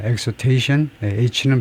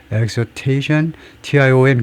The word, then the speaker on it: exhortation: exhortation, H는 발음을 안 할 거고 exhortation, T-I-O-N 그 앞에 액센트가 있기 때문에 그래서 exhortation 뭐 그 이상은 한계가 있어서 다른 발음이 나올 수가 없겠죠.